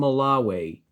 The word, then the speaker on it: Malawi: They are pronounced Burundi, Lesotho, and Malawi.